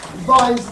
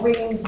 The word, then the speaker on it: Wien: about to do today is Vine's law, or what Wien's law, whatever you want to pronounce it, depending on which part of America you come from.